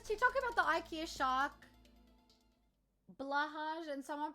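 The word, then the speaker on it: Blåhaj: Blahaj, and someone pronounced it and just clicked for me that it sounds almost exact like... Blauwe High, which is the Dutch way of saying blue shark, and I commented that and people started roasting me.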